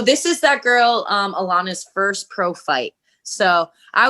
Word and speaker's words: Alannah: is it alana arnett is that how you pronounce it alana yeah alana alana so she's four and one